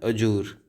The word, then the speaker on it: adjure: इसका प्रोनाउंसिएशन ऐसे होता है अजूर, AJOOR।